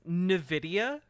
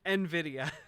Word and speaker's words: Nvidia: come from making Nidia is he trying to say Nvidia but he thinks that it's Nidia are you are you joking no one no one on his team was like Matt Matt it's called Nvidia oh no Nidia